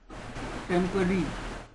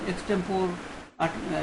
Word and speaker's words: extempore: So most people mispronounce it as extempore, like you do the competition in extempore, speech or something, elocution. It is extempore, which means on the spot, right at the time.